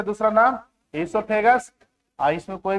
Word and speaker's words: ईसोफेगस: ओ silent होता है, ईसोफेगस बोला जाता है।